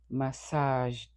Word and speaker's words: massaged: The final ed sounds like D. So massaged. Massaged.